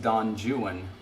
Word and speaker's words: Don Juan: a poem and like crucially I believe it has to be pronounced Don Juan otherwise the rhyme scheme doesn't work boy now my Google